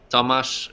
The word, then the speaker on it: Tomasz: Tomasz, right? It's Tomasz. It's like with the Polish pronunciation.